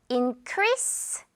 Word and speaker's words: increase: Increase s 발음 할지도 몰라.